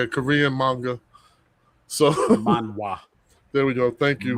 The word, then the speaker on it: Manhwa: So Manhwa.